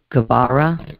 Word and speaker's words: Geburah: GEBURAH, is that how you say it?